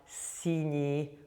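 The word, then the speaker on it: синий: And finally, when we have the 61 or the soft E followed by the short E, that's an adjectival ending, and it will always be that. So when you see that, you'll know it's an adjective. So you'd have sini, which means blue, sini, but you'd have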